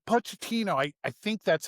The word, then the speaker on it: Pochettino: Well, cuz like Pochettino, I I think that's how you say his name, Mauricio Pochettino. Yeah, Pochettino.